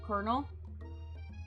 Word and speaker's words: Colonel: honestly English like why why is the L pronounced like an R Colonel Colonel I can like